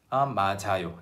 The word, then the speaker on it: 맞아요: So it never sounds like J, J, J. The English pronunciation J or the French J. It's always 자, 자.